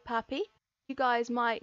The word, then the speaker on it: Papi: I mean, one, his name rhymes with okapi, Papi the okapi, but he's